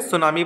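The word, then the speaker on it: tsunami: next है last सुनामी ये tease बच्चों इसमें साइलेंट रहेगा आप इसे सुनामी पढ़ेंगे ठीक है सम टाइम्स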